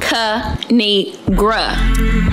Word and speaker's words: Kinigra: It's pronounced Kinigra.